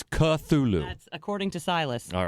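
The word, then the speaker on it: Cthulhu: that in involved the word cthulu which I mispronounce with a CH sound so I I apologize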